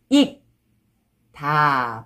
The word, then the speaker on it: 익다: And when you read it, this one, 익, 다.